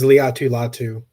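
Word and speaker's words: Laiatu Latu: say his name yeah uh they said it's Leu latu Leu latu from the Colts quinan Mitchell Evan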